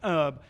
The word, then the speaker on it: herb: So, well, That's how the Brits say it. yeah, we dropped the H. Herb.